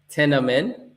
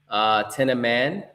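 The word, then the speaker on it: Thieneman: And with our first round pick, we selected Dylan, and I'm gonna get his pronunciation right, Tenaman. Tenaman.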